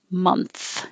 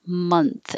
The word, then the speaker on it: month: know where we are month you do need the th here month and the vowel is a month excuse me i'm glad